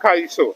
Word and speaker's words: Kaiso: Kaiso. Kaiso, not Calypso. Not So Calypso. okay, so it was like maybe like the white folks that couldn't pronounce Kaiso.